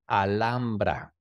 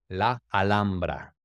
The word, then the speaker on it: Alhambra: el castillo de la alambra entonces en inglés es alhambra Pero acuérdense que la H no se pronuncia en español spanish la alambra vamos a hablar un